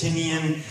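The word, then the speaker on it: Tynion: I've been told it's Tinian, it's Tinian.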